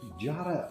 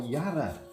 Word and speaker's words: jarrah: made of jarrah or yarra. Jarrah. Which came in... Jarrah, the Australians always correct you. Yeah. I don't know why you call it Yarra. Well, because we don't pronounce the J in it, I think.